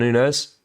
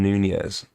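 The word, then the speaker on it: Núñez: to play here guys hate to be that guy but it's pronounced Darwin Nunez Nunez sorry I do apologize Nunes ball comes in from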